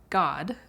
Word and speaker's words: Godde: God is pronounced like God, but it's spelled Godde.